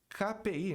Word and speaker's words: KPI: Aqui a sigla KPI, né? KPI. Tem muita gente que pronuncia KPI. Aí você muda completamente a coisa, né? A pronúncia do K em inglês é K e não Ki.